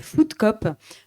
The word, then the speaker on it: Food Coop: Et donc, moi, je souhaite vous parler du film Food Cop, qui est un film documentaire de Tom Booth, Je le prononce à l'anglaise et il se trouve qu'il est programmé sur 2 événements pendant le mois de l'ESS.